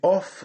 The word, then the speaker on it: of: Mais quand on a OF, F là, le prononcer comme V, on dit of.